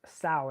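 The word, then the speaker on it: Samhain: is even more ancient it's this festival called sa now it's a Celtic Festival and it's actually spelled s m h a i n but it's pronounced sa so so and this is you know it's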